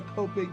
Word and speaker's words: Copic: Yeah, Copic. I said it wrong. It's Copic.